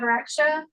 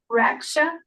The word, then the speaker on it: Raksha: We also have Raksha, which is How do you pronounce that? How do you pronounce that? Raksha. Rasha.